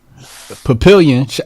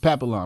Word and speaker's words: Papillon: Yeah, this is or is it Papillon? How you pronounce that? Papillon? Yeah, Papillon. I'm sorry, Papillon 25 in South Orange, New Jersey.